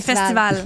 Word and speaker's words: festivals: f des festivaux des festivals merci c'est juste qu'on prononce pas le S à la fin des festivals oui exact c'est une